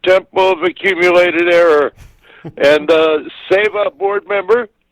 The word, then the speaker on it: seva: And SEVA board member, spelled S-E-V-A, but pronounced Seva, and it's a Sanskrit word meaning service to humankind.